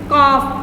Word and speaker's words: calf: कि CALF लिखा है, तो मैंने जब इसको पढ़ा तो मैंने इसको काफ पढ़ा। L लिखा है लेकिन मैंने इसको बोला नहीं है, ये साइलेंट लेटर है, इसको पढ़ेंगे हम नहीं।